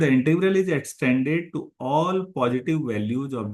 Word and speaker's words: Dirichlet: integration पर है और इसे पढ़ेंगे टले टी साइलेंट होगा टले थरम फॉर थ्री वेरिएबल